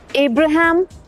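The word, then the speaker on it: Abraham: ए बी आर एच ए एम इब्राहम अब्राहम Lincoln L आई एन सी ओ एल N would always be Lincoln.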